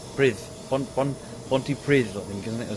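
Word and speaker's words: Pontypridd: Can I say Pronti Pri? Brith. Ponty Prith, I think, isn't it? Or something like that. The two D's pronounced sort of a slightly a DTH sort of sound.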